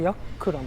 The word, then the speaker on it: Giác Lâm: この鶴林と日本だと読むと思うんですけど、これでヤックラムとベトナム語では発音するらしいです。